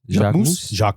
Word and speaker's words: Jacquemus: Jacquemus.